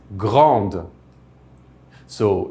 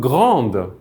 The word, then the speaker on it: grandes: would say nous sommes grandes with an S in the end. Since that S is not pronounced, you probably heard that it was pronounced the same way.